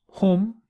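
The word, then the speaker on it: هم: you all, for females, antunna, they, for males, hum, and they for females, hunna.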